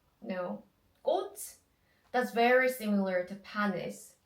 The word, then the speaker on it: 꽃: Okay, but like 치 sound actually sounds like 드 sound. So when you pronounce it, we say 꽃. It's not 꽃. No, 꽃.